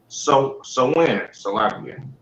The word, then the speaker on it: Samhain: Soon, All Saints Day incorporated some of the traditions, of the traditions of Samhain. That's how you pronounce it.